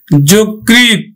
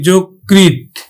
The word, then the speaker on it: যকৃৎ: তারপরে দেখো যকৃৎ, শিক্ষার্থী বন্ধু আমরা অন্তস্থ জ উচ্চারণ করি না, বর্গীয় জ উচ্চারণ করি, যকৃৎ, যকৃৎ।